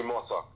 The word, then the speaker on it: Mota: one and only Mota. Am I saying that right? Yes, Mota. That's the way you pronounce it.